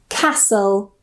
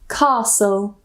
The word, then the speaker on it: castle: The next rule is when we have the spelling s l e s so we don't pronounce the t. Usually we don't pronounce the t. For example, nestle, fistle, castle or castle, wrestle.